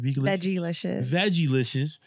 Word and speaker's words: Vegalicious: She has Vegalicious. Did I say it right? Veggie-licious. Mm-hmm.